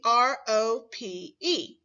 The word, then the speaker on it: rope: Remember, the E is silent. It does not make a sound.